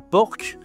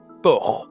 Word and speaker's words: porc: En anglais, on dit pork, mais en français, tu dis pas porc, tu dis porc. OK ? C'est une consonne muette, le port.